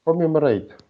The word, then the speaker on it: commemorate: Where does the stress fall here? First, second, Oh, third, fourth? first, So, first or second? I'm not sure, quite sure. uh-huh. So can you pronounce it both ways? Maybe one way would sound better for you. Commemorate, commemorate, commemorate, commemorate, probably. Yes, wonderful. The second one, to commemorate.